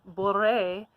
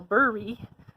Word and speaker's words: Boré: If it says Boré and you go Burry, we're going to know that you haven't done any kind of Googling at all, right?